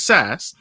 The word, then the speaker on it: SaaS: audio audience as well saa startups which is sas um and he is